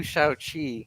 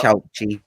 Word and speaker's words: Shaoqi: yeah, it's pretty funny too because after the death of Mao, Liu Shaoqi or Shaoqi, however you pronounce his name, um, I think like it's Chao-Chi. Shao-Chi.